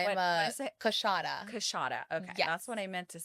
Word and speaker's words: Coushatta: Coushatta. Coushatta. Okay. Yes. That's what I meant to say.